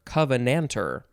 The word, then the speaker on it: covenanter: is covenanter covenanter or covenanter noun from 1638 and i have to say that the end of the word is er you'll learn about why i said